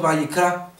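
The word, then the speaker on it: ויקרא: los propósitos de Dios levítico en hebreo se pronuncia como ya aprendimos bikra y ciertamente en este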